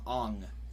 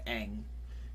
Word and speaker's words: Aang: Like, I watched a little bit of it, and I remember they kept calling him Ong instead of Aang.